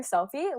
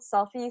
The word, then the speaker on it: Cellfie: And so that's how Selfie was born. It's called Selfie, CELLFIE, pronounced selfie, like you're taking a selfie, like a picture of yourself.